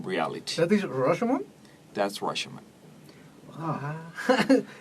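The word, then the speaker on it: Rashomon: That's Roshomon. Wow. It's good? It's Yeah, look great at that. movie. The pronunciation's perfect.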